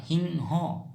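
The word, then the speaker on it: সিংহ: हो कहेंगे हिं हो लिखते टाइम में हम सिं हो लिखेंगे लेकिन उच्चारण होगा हिं हो हिंग हो ठीक है दोस्तों समझ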